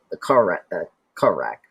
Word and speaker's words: Korak: But so apparently that Maggie, so she had made a deal with the Korak, right?